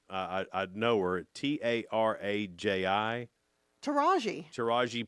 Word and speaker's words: Taraji: I've never known how to say her name till today, but Taraji.